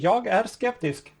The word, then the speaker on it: Jag är skeptisk: Jag är skeptisk.